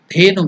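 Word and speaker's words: धेनु: The pronunciation is Da, Dha. Consonant. So it is Alpa Prana, Mahaprana. Less energy, more energy. So there is more energy. Mahaprana.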